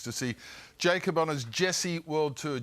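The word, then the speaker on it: Djesse: Tickets to see Jacob on his Jesse World Tour. G DG. Sorry, that's how it's spelled. DJ J E S pronounced Jesse World Tour.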